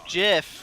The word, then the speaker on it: GIF: It's Jiff. But let's retreat from that. It is Jiff.